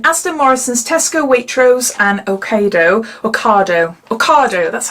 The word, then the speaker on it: Ocado: This will cost you £2.70 and it's available in Asda, Morrisons, Tesco, Waitrose and Ocado, that's how you say it, isn't it?